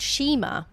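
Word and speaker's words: nshima: So this food is called shima, and it's spelt with a silent N on the start of it.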